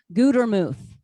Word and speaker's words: Gutermuth: One T makes a long U. Gutermuth.